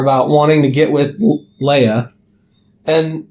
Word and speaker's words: Leia: It's Leia. They pronounce it...